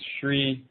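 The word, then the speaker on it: shreem: owns three Shareen mantras shri sh r e ng is how this mantra sounds represents the manifest or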